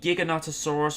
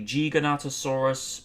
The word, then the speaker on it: Giganotosaurus: inaccuracies because for starters the giganotosaurus or the g ganatasaurus whichever is your preferred pronunciation of the dinosaur um lived 30 year